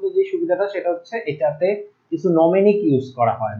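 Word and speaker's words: mnemonic: আচ্ছা, নেমোনিক ইউজ করার কারণে আমি উচ্চারণটা ভুল করছি, এটার বানানটা হচ্ছে এরকম এম এন ই, এইটা নেমোনিক। নোমেনিকটা কিন্তু হ্যাঁ আমি কয়েকবার ভুল উচ্চারণ করছি, নেমোনিক।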